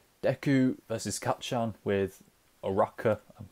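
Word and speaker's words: Uraraka: episode of just Deku versus cut Shaun with a rocker I'm saying her name right now and I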